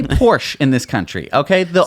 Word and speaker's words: Porsche: the Porsche taken as taken it does not I pronounced it here's how you pronounce it Tyco